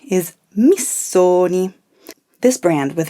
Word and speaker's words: Missoni: the name is pronounced missoni be careful don't transform the double s into a z sound it's not mizoni it's miss sony repeat it after me